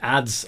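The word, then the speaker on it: Adze: And I forgot that the ads have a It's just pronounced ads, I found out. I had to Google it because I wasn't sure. I bet I'm pronouncing this wrong. It's just ads.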